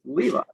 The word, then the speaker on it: Levi: And like this one guy at one point was like Levy. He's like, oh wait, is it Levi? I'm like, actually, it's fine either way. I pronounce it Levi, but like I wasn't gonna correct you, so like whatever.